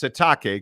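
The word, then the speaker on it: Sitake: for both colan satake or excuse me satake right he wants it pronounced satake Kanani satake uh huge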